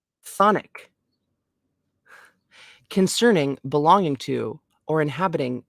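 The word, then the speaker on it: chthonic: where are you at c-h-t-h-o-n-i-c okay definition and pronunciation Sonic concerning belonging to or inhabiting the underworld ooh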